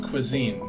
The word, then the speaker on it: cuisine: Oh, cuisine? It's pronounced cuisine, Kiana.